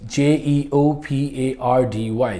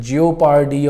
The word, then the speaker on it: jeopardy: हमारा 7th word जो है आज का वो जी जेपर्डी, JEOPARDY। जेपर्डी मतलब किसी चीज़ का डेंजर में होना, जेपर्डी डेंजर को कहते हैं। जियोपार्डी और something else is incorrect, the correct pronunciation is jeopardy, jeopardy।